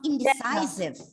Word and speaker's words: indecisive: what's the meaning of indecisive? Not able to make sudden or Decisions. Decision. Decisions. Yes. Deadlock. Or a settlement, deadlock. Okay. And the stress is on the second last syllable, right?